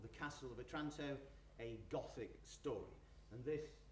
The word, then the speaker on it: Otranto: The book pretends to be a manuscript which Walpole has acquired from the Middle Ages, and in particular from Otranto, it's now, as it's actually pronounced, in Italy.